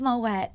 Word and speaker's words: Moët: pronounced moette is because the name is Dutch in origin and it's a bit